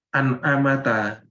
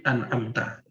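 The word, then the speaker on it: أَنْعَمْتَ: Jadi bacanya bukan an'amata, tapi an'amta.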